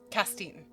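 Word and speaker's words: Castaigne: Oh, you also trace the data from that back to a man named uh Casser, not Cassair, but um Castine.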